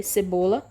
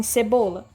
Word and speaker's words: cebola: Em cebola. Cebola. Cebola. Então, a sílaba tônica aqui é bo.